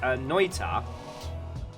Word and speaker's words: Noita: So it's pronounced Noita.